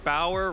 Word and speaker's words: Bauer: I am here in the lounge with Luke Bauer, rhymes with power, and a powerful display there at our 7th round of Swiss here in Louisville.